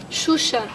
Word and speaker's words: Xuxa: ¿Cómo se pronuncia? Xuxa.